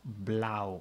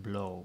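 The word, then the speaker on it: blauw: Brook you can also you can only pronounce it as AO Blau not blow because the owl is not at the beginning the sky is blue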